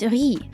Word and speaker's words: riz: The in French rice pronunciation is riz. Riz?